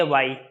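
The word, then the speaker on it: why: क्योंकि अंग्रेजी होती है वाई, वाही नहीं होता, वाई, एच साइलेंट है।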